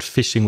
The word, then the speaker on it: phishing: speaking of fishing there's another word fishing with a different spelling and a completely different meaning well not completely different maybe fishing pH i Sh ing is connected to the